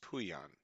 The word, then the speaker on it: Puyan: His name was Puyan. Simple, I mean, it's spelled exactly the way it sounds.